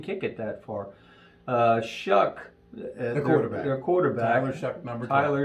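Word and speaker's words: Shough: then he can kick it that far uh shook the quarterback their quarterback Tyler it's spelled Xiao but it's pronounced shuck he spread the ball around in that Wyoming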